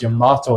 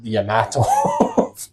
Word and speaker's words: Yamato: It's Yamato, not Yamato.